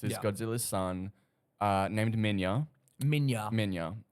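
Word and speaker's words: Minilla: Minya. Spelt Manila, but Okay, but pronounced Minya.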